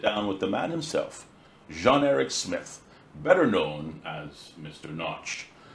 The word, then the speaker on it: Jean-Eric Smith: I was christened Jean-Eric Smith, not Sean Smith, as most people in Cayman knew me throughout my younger and adolescent years. Mm-hmm. That was primarily because my countrymen had a difficulty in pronouncing the name Jean, mm-hmm.